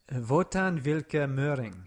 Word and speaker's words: Wotan Wilke Möhring: Wotan Wilke Möhring. Ah, that sounds good. Just rolling off your tongue. The W's are all V's. And the E's at the end of the words are pronounced usually.